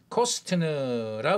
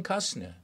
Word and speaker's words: Costner: 어 지난번에 한번 설명드렸던 케빈 코스트라 우리 한국에서 발음을 하는데 그게 아니고 케빈 카스너 케빈 카스너 그런 현상입니다 카스너 카스너 자 단어